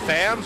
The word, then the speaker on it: Thamus: Is it Thams or Thamus? It's Fam. Or is it Thumbs? It's Fam. Thams. Yeah. We tried to just not say the U. Thams. Thamus. The U is silent.